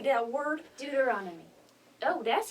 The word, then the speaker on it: Deuteronomy: Deuteronomy.